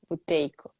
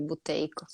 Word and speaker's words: Buteyko: método buteyko de respiração botei que se escreve b u t e y calota ver o que é e y oi tá ó boteco boteco método buteyko de reintegração